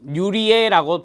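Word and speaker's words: Nirje: 자, 1969년 스웨덴의 니르제 또는 뉴리에라고 발음하기도 합니다.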